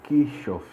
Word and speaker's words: Kirchhoff: sobre as leis de christoff esse nome é meio complicado de se pronunciar mas é tipo assim que chove que chove desde de queixas